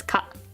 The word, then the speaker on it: 可: This is good, right, or possible, pronounced as ka, like 可能性 or かわいい.